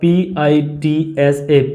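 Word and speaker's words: pizza: अब हम इसको पिज़्ज़ा पुकारते हैं लेकिन इसका प्रोनाउंसिएशन जाएगा PITSA, पिज़्ज़ा, पिज़्ज़ा जाएगा। इटालियन टर्म्स है, इसको इसी हिसाब से ही पढ़ेंगे।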